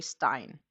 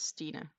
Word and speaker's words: Stina: A lot of people get easier to do Stina when I've said it's like Christine, right? Because if you just read my name, most native English speakers will say Stein, which is not the way to pronounce my name. It's Stina.